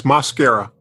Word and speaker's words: Mosquera: Can you tell us what how your last name is pronounced? Yes, Mosquera.